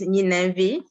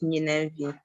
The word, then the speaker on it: Ninenvi: Well, the correct pronunciation is Ninenvi.